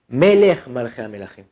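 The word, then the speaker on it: Melech malachei hamelachim: Melech malachei amelachim, le roi des rois. Pas Mi melech. Ok, donc, comment on doit prononcer, c'est important.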